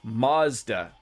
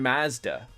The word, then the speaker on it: Mazda: I've wanted to buy, I have never heard anyone say it like Mazda. It's always been Mazda.